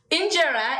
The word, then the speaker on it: Injera: Injera is actually, did I pronounce it well?